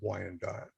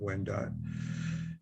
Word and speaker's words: Wendat: who became the wyandotte became called wyandotte which is a mispronunciation of when died they lived around the